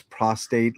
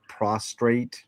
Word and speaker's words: prostate: Um, I hate when people pronounce prostate like prostrate.